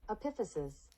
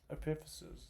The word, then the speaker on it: epiphysis: don't trust you man pronunciation epiphysis epiphysis just as I said it so uh these